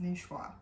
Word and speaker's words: Niçoise: It's not spelled that way, but it's pronounced Niçoise.